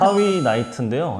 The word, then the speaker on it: 하위나이트: 방금 전에 숙지라 가지고 제가 발음 하위 나이트인데요.